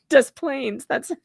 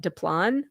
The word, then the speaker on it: Des Plaines: I know that's not right, but that's how we say it. Des Plaines. It's terrible, but that's how we say it. Des Plaines. Yeah. I don't know I don't know another pronunciation. I guess the French way would be like, what, Desplan or something? I don't know. I don't know. But yes, they say Des Plaines.